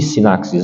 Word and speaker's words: sinaxe: Assembleia eucarística, sinxis pronuncia, se pronuncie sinaxes, né?